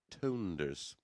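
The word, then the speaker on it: Toonders: surname is pronounced Tonders.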